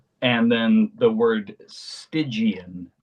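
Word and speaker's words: Stygian: And then the word stigian, s t y g i a n. As far as I know, I think it was. Yeah, the correct pronunciation is stigian, meaning related to the river sticks.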